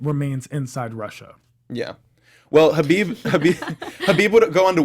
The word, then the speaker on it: Khabib: course Conor McGregor and habib nurmagomedov is that right actually great excellent pronunciation khabib yeah new McGann enough well